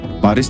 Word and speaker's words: Paris: huruf s dan H Paris dibaca pari Halo dibaca allow di